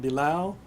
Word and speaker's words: Bilal: My name is Bilal, spelled, last name Bilal, pronounced Bilal, and I am the National Commander of the Muslim American Veterans Association.